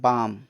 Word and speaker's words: balm: ठीक, नेक्स्ट है कुछ वर्ड्स में एल का उच्चारण नहीं होता है। जैसे BALM बाम, BALM बाम मतलब मरहम, BALM बाम मतलब मरहम।